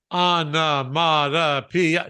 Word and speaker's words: onomatopoeia: Onomatopoeia. 6 syllables.